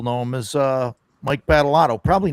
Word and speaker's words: Badolato: him as uh Mike Batalott. Probably not a lot of people. No, Bad Mike. And you actually pronounced my name right, so you must be from the Northeast.